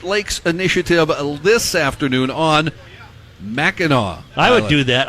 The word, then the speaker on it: Mackinac: Well, it's Mackinac, but I think it's pronounced Mackinac.